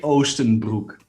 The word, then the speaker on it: Oostenbroek: and i'm happy happy is here ostenbrook if i'm saying your name correctly can you just correctly like tell me how you say it's so much cooler dude you killed it uh ostenbruck which is translated into eastern pants in english